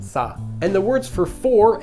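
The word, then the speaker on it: 死: death this is because the number four written in Chinese is pronounced sa and also the character for death in Chinese is also pronounced sa and the words for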